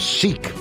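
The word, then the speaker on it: seiche: that are normally it's it's called a seek s e i c h e if I'm pronouncing that right wikipedia reports that a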